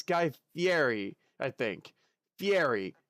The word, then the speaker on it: Fieri: guy fieri i think fiery two syllables and that's how they say it in italian i think guy fieri fairy fairy i think that's